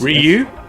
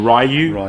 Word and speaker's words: Ryu: Ryu or Rayu or Ru, depends on how you want to pronounce it. It depends on which part of the world you're from.